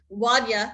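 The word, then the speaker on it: Wonya: But anyway, the skit starred Hallmark CEO Wanya, which I found out that's how you say it, Wanya Lucas, and Samantha DiPippo and Lisa Daly.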